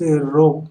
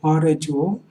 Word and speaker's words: rho: Okay, volume charge density, this is pronounced as rho, rho, coulomb per meter cube.